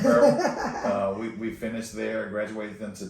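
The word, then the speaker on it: Maryville: Marville is how you pronounce it? Marvel.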